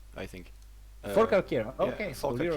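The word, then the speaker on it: Forcalquier: Oh yeah, Shavir, how is this province pronounced? Which one? In Uh, Provence. Fort Calquier, I think. For Calcaire.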